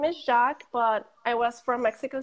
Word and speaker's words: Jacques: so is because my last name is shock but I was from Oh City so everyone will call me instead of Jacques they wouldn't pronounce the is Jacques like that